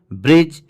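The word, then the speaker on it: bridge: आधा अन ही निकले और अगर कोई वर्ड जी पर खत्म हो रहा हो और उससे पहले भी आए तो दी साइलेंट हो जाता है जैसे ब्रिज नॉलेज देखिए इसमें दी आया है इसलिए दी साइलेंट हो गया अगर जी के पहले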